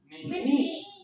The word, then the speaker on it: niche: है ये बताओ बस The pronunciation is niche. Niche. Niche. देख लो भाई niche भी नहीं है. SH साउंड होना चाहिए.